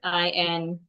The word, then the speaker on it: insatiable: And the next word, we have the word INSATIABLE. The word is pronounced insatiable. Insatiable. The TIA there sounds like the TI, excuse me. The TI in the word sounds like SH.